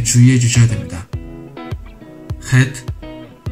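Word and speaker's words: חית: 마치 소주를 마신 후 내뱉는 소리와 같은 느낌이라 생각해 보시면 됩니다.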